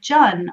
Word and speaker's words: Jun: kind of newer is called Jun or rhymes with fun or Jun which is Chinese